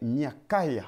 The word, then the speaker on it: Micaiah: Miché, d'ailleurs, est un nom bantou, Micah, you need to know, is a Bantu name, dont la vraie prononciation est Miakaya. in which we will have the really and good translation is Micaiah.